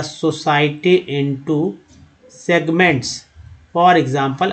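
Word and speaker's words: e.g.: For example, अब देखिए ई आई को आई ई नहीं बोलेंगे, बल्कि इसको बोलेंगे फॉर एग्जाम्पल। एक याद रखिए, इसको उच्चारण फॉर एग्जाम्पल होता है।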